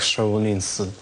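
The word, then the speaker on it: 少林: что даже банальное слово Шаолинь которое я повторял для китайцев ничего не значит потому что в китайском произношении это звучит Как шаолинс вот и Через неделю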